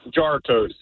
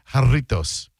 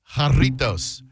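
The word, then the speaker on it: Jarritos: Uh, but no, it's it's Hispanic, so it's pronounced Hartos. Jartos, as I said, Hartos, a popular Mexican brand of flu fruit flavored carbonated soft drinks founded in 1950.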